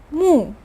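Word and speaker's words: 目: alternate form of character in a bit mu pronounce with me mu this means i in ancient days it was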